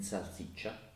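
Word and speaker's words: salsiccia: chip or love onion in sassy cha which means sausage and here the last syllable chat is spelt C I a we've got a vowel after the I when we have a vowel after the i the e sound disappears so we get this soft chirp ah so C chapped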